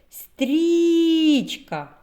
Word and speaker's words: стрічка: і складів А тепер визначимо який же склад наголошений давайте покличемо стрічка куди був наголос на перший склад пропоную ще викласти звуковий